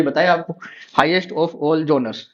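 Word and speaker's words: genre: एरेनासिस critics rank the epic as द, ये मैंने अभी बताया आपको, हाईएस्ट ऑफ ऑल जोनर्स। इसको बोलते हैं जोनर। प्रोनाउंसिएशन का ध्यान रखना, जोनर यानी लिटरेचर टर्म्स होते हैं जितने भी सारे।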